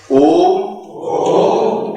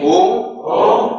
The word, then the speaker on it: ओम: इसमें इतना ध्यान रखना है कि ओम में म ध्वनि आएगी और दूसरी ध्वनि म की सिद्धि में आएगी।